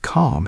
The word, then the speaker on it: calm: Notice how the word calm has a silent L. We do not say the L sound. We just say calm.